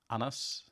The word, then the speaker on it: Anders: But then how do you say it in Danish? Anas.